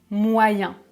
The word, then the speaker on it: moyen: 2 petites d'exception et parfois EN se prononce un comme dans le mot examens ou moyen par exemple ce sont des exceptions